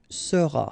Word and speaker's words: seras: All right, then tu seras. Final S not pronounced.